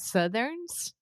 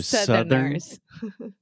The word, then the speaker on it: Southerners: Yes, eu não falei Southerners, eu falei Southerns. Yeah. That's why. So Southerners.